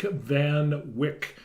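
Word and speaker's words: Van Wyck: show uh this is van Wick and rhymes with prick so we're gonna take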